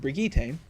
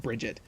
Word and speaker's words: Brigitte: the recent announcement of brigita and yes that is how it's pronounced it's not Bridget they're up to 27